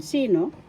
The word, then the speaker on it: sino: engino who in English first syllable C second syllable no first syllable has the action sino who in English sino